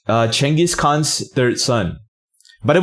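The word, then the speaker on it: Genghis: Son by the way genjis is not the proper pronunciation of his name the way the real way you say genjis Khan's name is chenis that's the way you know like the Mongolians pronounce it I wonder why they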